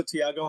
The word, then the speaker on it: Tiago: Hello Thiago, how are you doing today?